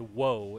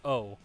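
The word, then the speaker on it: を: use the wo here it's not whoa it's o the reason why they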